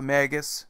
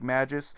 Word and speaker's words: Magus: Persia in Greece its Magus which is usually mispronounced like majus which is understandable usually